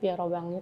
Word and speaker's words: Robin: kecil ternyata munculah si robang itu he katanya bacanya tu robang bahasa Perancis agak susahas susah itu